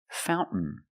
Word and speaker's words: fountain: what did we celebrate Fountain Fountain you can say fountain or Fountain both are fine and then I swim